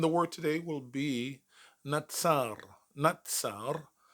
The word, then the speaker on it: נצר: second hebrew and the word today will be natsar natsar spelled with a noon saudi and a rash but